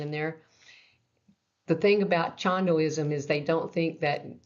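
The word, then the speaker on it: Cheondoism: Chandoism. Did I say that right? You said it right. Cool. Chandoism.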